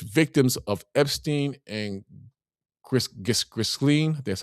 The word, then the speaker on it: Ghislaine: got victims, alleged victims of Epstein and Ghis- Ghislaine, that's how you pronounce her name, I'm sorry.